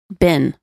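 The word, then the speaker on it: been: How do you pronounce B-E-E-N? Bin. Okay, like the vowel in sit.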